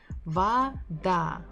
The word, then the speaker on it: Вода: That's why we say it as va. Вода, вода.